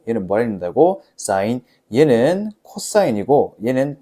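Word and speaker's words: cos: 얘는 코사인이고 얘는 탄젠트라 읽어.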